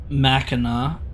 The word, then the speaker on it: Mackinac: It's pronounced Mackinac.